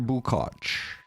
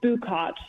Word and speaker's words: Bukotch: Do you pronounce your last name, Bukatch or Bukot? It's Bukotch.